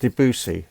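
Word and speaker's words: Debussy: It's It's pronounced Debusy. Oh, okay. So, it's the music of Debusi.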